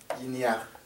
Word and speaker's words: guinea: Guinea, aquí por la aquí está I, que guin, que se pronuncia muy poquito, y esta I aquí, que ya, para decir ya, como son dos vocales, entonces aquí hay guinea. Se oye como si fuera una sola palabra.